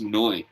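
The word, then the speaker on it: Neu!: the 1970s it's called a n-e-u new um i think it's pronounced noi actually yeah yeah and it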